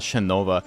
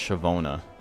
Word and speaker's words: Shavona: It's not Shinova. I always think it's Shinova, but it's Shavona. Okay, I gotta update that.